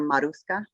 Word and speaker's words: Marushka: than anything um so you can pronounce my name marushka or maruska it depends on where you're at in the nation um so yeah they